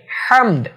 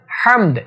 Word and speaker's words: হামদ: দ্বিতীয় যে হাটি আছে অর্থাৎ ওয়ালিল্লাহিল এর পরে হামদ, এই হাটা হলকের মিডিল থেকে উচ্চারিত হবে হামদ, হামদ এমন।